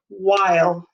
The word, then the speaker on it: while: while i'll shrink it while segmented w-h-i-l-e while make sure you make put the magic e to make the i say its name or it will say will we want it to say while all right let's do